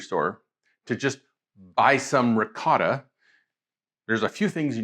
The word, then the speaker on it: ricotta: You say ricotta and I say ricotta. No matter how you say it, and I say it ricotta, only because that's the way I was taught growing up in an Italian household. You could say ricotta, it doesn't really matter. It's the same thing.